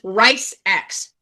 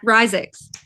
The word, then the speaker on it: Risix: My first try was Rice X. Like rice hand? Basically. So how's it fully pronounced? Well, what is his nickname? You know his nickname. Rise. Yeah. Cool. Yeah, that's not correlating at all. Risix. It's that simple.